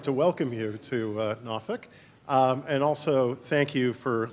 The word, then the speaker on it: Norfolk: in Norfolk you've heard probably heard about 27 different pronunciations unless you're a look Norfolk Norfolk exact that's good enough yeah it takes you a while if you hear anybody say Norfolk you know they are not from around here so I'd like